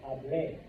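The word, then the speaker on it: hablé: This is hable. Emphasis on the E, hable.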